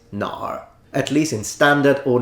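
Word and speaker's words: 哪儿: kind of surface level the app pronounces it ner no one who speaks Mandarin as a first language will ever say no it's Nar at least in standard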